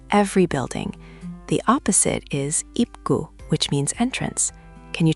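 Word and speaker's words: 입구: When the final consonant p up comes before kiyok, it actually softens. So, it sounds more like ip gu. Very subtle, but native speakers will notice.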